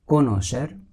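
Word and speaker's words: connoisseur: कोनोशर, इसका प्रोनाउंसिएशन है कोनोशर, a critical जज ऑफ एनी आर्ट and craft.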